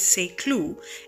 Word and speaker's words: Saint-Cloud: get an idea a St Cloud which the French pronunciation is SE clue is a commune in